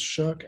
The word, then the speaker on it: SSHRC: time with funding from what is pronounced shirk sshrc in canada and the